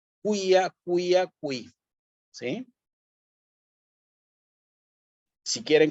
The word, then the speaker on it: quia: Quia, otra vez el quia, y otra vez la C con la I.